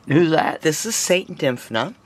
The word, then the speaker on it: Dymphna: This is Saint Dymphna. How do you say that? Dymphna. What kind of a name? Dymphna.